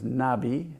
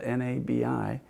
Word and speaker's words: Nabi: Hebrew tradition the Hebrew word for Prophet was Nabi it's spelled n-a-b-i Nabi and it was depending on the context